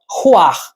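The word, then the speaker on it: רוּחַ: Esta é a pronúncia roar.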